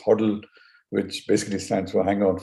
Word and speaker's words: hodl: used in crypto investing called hodl pronounced huddle which basically stands for